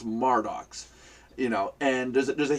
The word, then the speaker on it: Mardox: place at em Murder murdoch's and it's like it's not it's that spell em er it's felt ma are spells pronounced mar docks you know and there's